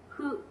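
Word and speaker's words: ふ: 후 발음이 우리나라 사람하고 틀린 것은 우리나라 사람들은 전부 다 이 HU 발음에 가깝게 후 발음을 하는데 일본 사람들은 정확하게 F음으로 발음을 합니다. 후.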